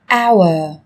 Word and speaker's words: hour: Trong tiếng Anh cũng có một số từ mà cách viết chúng ta thấy xuất hiện chữ cái h, nhưng khi phát âm thì chúng ta lại không cần phải phát âm âm này, người ta còn gọi là âm h câm.